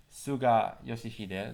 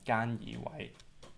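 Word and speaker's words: 菅義偉: Deswegen sagt man in Hongkong nicht Suga Yoshihide, sondern Gan Yiwei.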